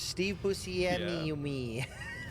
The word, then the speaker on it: Buscemi: Actually, every consonant is pronounced individually. It's Steve Buscemi.